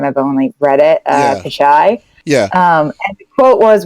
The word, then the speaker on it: Pichai: Pichai.